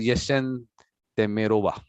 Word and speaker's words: Yessentemirova: When I've been to America, they just called my last name just Yes, because it starts with yes, and they even wrote it down like Yes. So I pronounce it Yessentemirova.